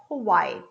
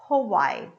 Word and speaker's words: Hawaii: one more hawaii hawaii i have this h that comes from here right i'm going to pronounce a schwa sound that is uh uh so i say hawaii hawaii and because of hawaii